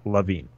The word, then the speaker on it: LaVine: right by the way I went to basketball reference who does have pronunciation it is LaVine but there there is